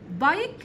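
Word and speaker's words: bike: ها ك حرف الكي والاي في اخر الكلمه بكتبها وما بنطقها بكتب حرف الاي بس ما بيطلعش صوته تمام بايك دراجه يعني ايه يشرب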